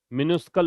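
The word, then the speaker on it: minuscule: मिनस्कल इसका प्रोनाउंसिएशन है।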